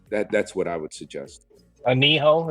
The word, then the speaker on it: anillo: Aniho is what it's called. Anillo, Anillo. Oh, okay. Got it. You've heard people pronounce it wrong, the Anillo, but it's just because, Americans can't pronounce nothing.